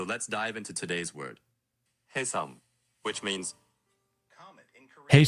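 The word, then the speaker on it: 혜성: Hyeseong. Which means comet in Korean. Hyeseong. Comet Hyeseong. Kim. Comet Kim. It's not Hyeseong. It's Hyeseong. Again. Hey versus ha.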